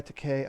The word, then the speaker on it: Takei: back and forth whatever i thought takai was uh it was uh chinese for expensive or something like that and his it's actually pronounced decay but whatever um like